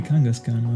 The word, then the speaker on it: Kangaskhan: I mean, the H is after the K, so I've always been pronouncing it wrong.